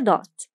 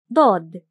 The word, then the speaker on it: ضاد: A curved line, a straight one, then a semicircle, and a dot. Come on, give it a try. Grab a pen and paper and try to draw dod.